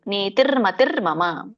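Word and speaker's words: ನೀತಿರ್ಮತಿರ್ಮಮ: ಹೇಳಿ ದ್ರುವ ನೀತಿರ್ಮತಿರ್ಮ ನೀತಿರ್ಮತಿರ್ ನೀತಿರ್ ಮತಿರ್ ಮಮ ಹಾಗೆ ಇದನ್ನ ಬಿಡಿಸಿದಾಗ ನೀತಿಹಿ ಮತಿಹಿ ಮಮ ಅಂತ ಆಗುತ್ತೆ ಲಾಸ್ಟ್ ಲೈನ್ ನೀತಿಹಿ ಮತಿಹಿ ಮಮ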